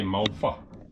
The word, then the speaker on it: malva: So you have to say malva. Malva. Malva. Because there's no translation. That's the correct pronunciation. It's malva.